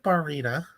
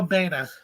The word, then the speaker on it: Baena: I don't think that's how you pronounce his last name. I don't. Oh, because it's Joseph Baena. Oh, Baena. I make it harder on myself. Also, because there's no R in his name.